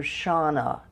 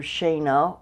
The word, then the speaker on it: Shana: in a second h i'm hoping people will read it as dr. Shawna and not dr. Shana or doctor Shanna to rhyme with Hannah the actual spelling of